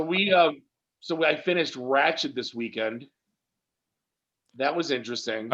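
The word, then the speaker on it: Ratched: it's it's it's so it's ratchet not ratchet right not ratchet yeah it's nurse ratchet yeah i never say wretched whatever how the hell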